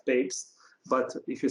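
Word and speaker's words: Papez: many years ago by a person who who was called papes but most of the times people pronounce it as papa's euro circuit but this person called himself babes but if you say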